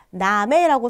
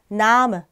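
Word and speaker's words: Name: 이름이라는 단어는 나메라고 써 있죠. 이걸 읽을 때 우리가 나메 이렇게 읽지 않고 나무 이렇게 발음해 주시면 돼요. 이게 약모음의 규칙입니다.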